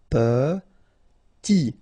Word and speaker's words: Petit: Okay, remember to pronounce this E like a E. Petit. Final T not pronounced.